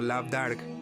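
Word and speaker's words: Lamh Dearg: De Lam, una mano, que significa el artífice, el discípulo o sacerdote del sol, de ahí el simbólico Lamderg, pronunciado Labdarg, la mano roja del Ulster.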